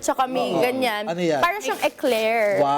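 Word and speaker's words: éclair: Eclair.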